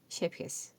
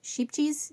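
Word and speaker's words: Scheepjes: It's not Shipjes, it's not Skepjes or something like that. It's Shepjes. That J is like a soft H.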